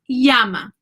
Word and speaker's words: llama: convenience sake we'll say says the Y sound so llama in Spanish is Yama y knowing these secrets